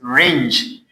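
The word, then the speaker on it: wring: The next one is ringe. W is what? Silent here. We don't pronounce it. Why? Because The letter W is before R.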